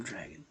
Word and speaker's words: Dragan: I've got a surname dragon, D-R-A-G-A-N. Pronounced like Reagan, although of course I'm not right wing, not left, universal revolutionary centrist for the 21st century be.